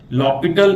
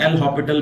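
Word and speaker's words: L'Hôpital: लॉपिटल इसको pronounce करते हैं, एल हॉपिटल भी बोल सकते हैं।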